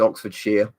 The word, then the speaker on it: Oxfordshire: know all those ones you never say the Shire it's sheer so so you know this is Oxfordshire you say it like she am NOT Shire basically like you're shearing sheep yeah what's this year